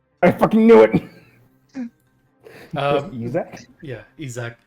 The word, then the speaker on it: Eac: Yeah, Eac. Saying Eac. Yeah. Not to be confused with Isaac, but it's EAC.